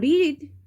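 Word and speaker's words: read: বসে ঠিক আছে এবং রিড রিডের তিনটে ফর্মই এক সেটা হচ্ছে রিড রিড রিড যদিও উচ্চারণটা রিড রেড রেড হয় ঠিক আছে বাট এই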